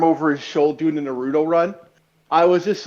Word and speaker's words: Naruto: By the way, while I was editing this, I noticed that you keep saying Naruto. Why do you say Naruto? It's pronounced Naruto.